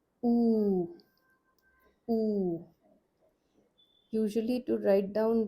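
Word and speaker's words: ऊ: Ooh. Ooh. Usually to write down this one also in English letters we use u. We use the letter u. The sound is long ooh.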